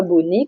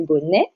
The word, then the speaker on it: bonnet: s'agit du mot bonnet donc à bien prononcer pas bonne et comment fait souvent mais bonet donc vous voyez que